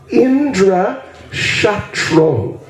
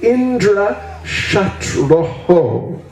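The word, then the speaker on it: इन्द्रशत्रुः: Actually, it should be Indra Shatroho. Должно быть Индра Шантрахо. Shatroho. Aho. This is called Visarga in Sanskrit grammar.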